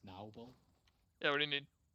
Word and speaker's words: Noble: It's pronounced Naubel.